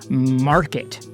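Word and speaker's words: MRKT: have to assume, and that store is called Market, just spelled like M-R-K-T.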